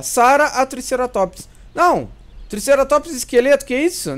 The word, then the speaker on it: Triceratops: Eu falo Triceratops, mas não é Triceratops que se pronuncia. É Triceratops. É que eu tenho um vício de linguagem de falar Triceratops. Mas eu sei que o certo é Triceratops, tá?